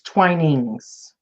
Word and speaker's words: Twinings: He That's says it's Twinings. Twinings. Okay. The second pronunciation, Twinings.